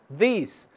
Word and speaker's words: this: em sua suas pronúncias this possui uma pronúncia com som do I curto já em o primeiro e tem um som alongado como se fosse dois is exerc este conteúdo realizando